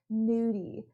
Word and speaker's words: gnudi: cooking is something called new D the G is silent and it actually means